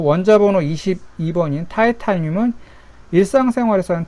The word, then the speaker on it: 타이타늄: 과학 용어로 옛날에는 이제 독일어 발음으로 이렇게 많이 썼는데, 요즘은 과학 용어를 영어식으로 많이 바꾸고 있어요. 그래가지고 이렇게 게르마늄을 이제 저마늄이라고 하고, 그 다음에 불소는 이제 한자어긴 해도 플루오린이라고 하고, 티타늄을 이제 타이타늄이라고 하고, 그 다음에 이제 원소는